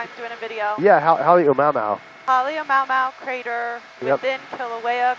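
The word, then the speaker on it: Halemaʻumaʻu: pronounce the name of the crater again for me while I'm doing a video? Yeah, Halemaumau.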